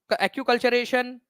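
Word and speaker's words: acculturation: तो कल्चरल RAM, acute कल्चरेशन, ठीक है, एनकल्चरेशन क्या कहा जाता है, तो एक्कल्चरेशन या एक्यूकल्चरेशन इसको बोलते हैं आप लोग, एक्यूकल्चरेशन इसका करेक्ट प्रोनाउंसिएशन है, ठीक है, पर संस्कृतिकरण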